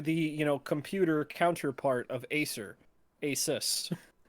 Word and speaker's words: Asus: Asus. Or Asus is the proper way to say it, but...